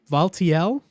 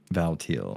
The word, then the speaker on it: Valtiel: birthing this God valtiel valtiel Val a lot of people say Vol as well it's like t i e l but I think um the way it's supposed to be pronounced as like teal like as in but